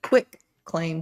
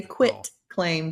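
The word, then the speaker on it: quitclaim: So, the funny thing to me is when people call it a quick claim deed with a ck instead of a T, it's a quit claim deed.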